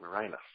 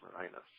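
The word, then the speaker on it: Mirinus: easy one I know is that spelled like marinas like mininos yes m i r i n u s ah okay great marinus marinus just writing everyone's names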